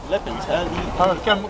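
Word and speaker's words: Lapins: Lepins, comme un lapin, mais avec un...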